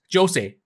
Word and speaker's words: Jose: I am going with Jose is because the Japanese pronunciation of his name is Jose and you can hear